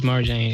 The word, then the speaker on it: Marjane: But her name is Marjane. It's kind of like Mary Jane almost.